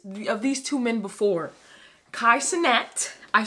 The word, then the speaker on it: Kai Cenat: video of this of these two men before kaisenet i said it right kaisenet because i said his name wrong in the first video and duke dennis